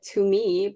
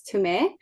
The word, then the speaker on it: Tumee: Usually people pronounce it Tumee, but it's Tumee.